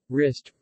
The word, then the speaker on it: wrist: The letter W is silent in the initial WR. Wrap, wrist, right, wrinkle.